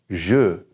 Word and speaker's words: je: is this work now remember that J has a shoot sound all right shoot Sam but the e at the end remember how we said that while they're going the alphabet we said uh so guess what this sounds like you've probably already got it figured out if sure sure that means I and so we're not gonna say J or J we're gonna say is